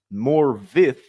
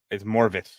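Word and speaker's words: Morfydd: It's actually pronounced Morvith in Welsh. F equals V and double D equals TH.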